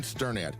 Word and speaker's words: Sternad: Hi, I'm Sternad and you pronounce my last name like you are stirring a pot.